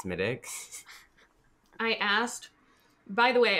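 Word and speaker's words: Smithwick's: Which is spelled Smithwicks. But for anyone out there who does not know how to pronounce Irish words, my Irish roommate tells me it is Smittix. Because when I was in Ireland, I was like, can I have Smithwicks? And they're like, you mean Smittix?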